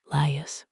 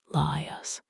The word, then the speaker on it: Laius: Laius, pronounced as 3 syllables, Laius, the last king of Thebes before Oedipus.